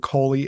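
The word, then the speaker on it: Caly: if you look up the ghost of old Coley and that's spelled c a l y you will see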